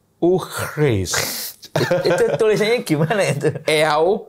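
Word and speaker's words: eau fraîche: Yang paling rendah itu adalah eau fraise. Eau fraise.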